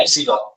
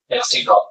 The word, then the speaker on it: epsilon: देता हूँ बेटा, epsilon, ये इंग्लिश का ई नहीं है, don't write it as English का ई, ये ग्रीक भाषा का अल्फाबेट है, इसको पढ़ते हैं एप्सिलॉन, ये अल्फाबेट का नाम ही है एप्सिलॉन, तो ऐसा सिंबल जब भी दिखेगा आप उसे एप्सिलॉन नाम से रीड करोगे, ठीक है।